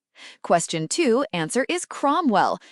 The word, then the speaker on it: Cromwell: Question two answer is Cromwell. Note ow sounds o.